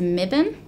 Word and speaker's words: Mibiny: Is Mibin the word for the wedge-tailed eagle? And that's M-I-B-I-N with a silent Y.